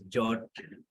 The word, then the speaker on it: JWT: I mean, it's pronounced as jot or something. You can put it as jwt jot, up to you.